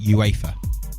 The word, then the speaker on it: UEFA: Oh, it's- but you pronounce it UEFA.